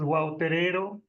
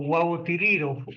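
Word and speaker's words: Wao Terero: ver ellos la realidad el nombre de la lengua pues es guo terero o guo tiir le pronuncian de las dos maneras en la en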